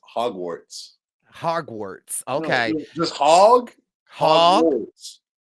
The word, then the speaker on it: Hogwarts: It's Hogwarts. Hogwarts. Okay. Just hog. Hogwarts. Hogwarts. No. No. You're You're glitching out. Hog. Warts. Warts. Hogwarts. Hogwarts. Oh my gosh. Stop putting that R in the first syllable. Hogwarts.